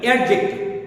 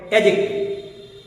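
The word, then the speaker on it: adjective: হ্যাঁ, অবশ্যই উচ্চারণটি কি হবে? অ্যাডজেক্টিভ। অনেকেই আমরা বলে থাকি অ্যাডজেক্টিভ। না, এখানে ডি এর উচ্চারণটি উজ্জ থাকবে। এর সঠিক প্রনাউন্সিয়েশনটি হবে অ্যাডজেক্টিভ।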